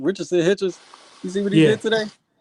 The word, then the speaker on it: Richardson Hitchens: Richardson Hitchens.